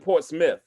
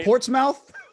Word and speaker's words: Portsmouth: h but you PR you pronounce it Port Smith it's not Portsmouth it definitely sounds like